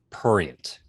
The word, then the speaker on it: prurient: It's pronounced prurient. There's an R in there.